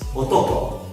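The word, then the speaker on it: 男: Su contenido fonológico, o sea, su sonido, su forma de pronunciar, es otoko y significa hombre.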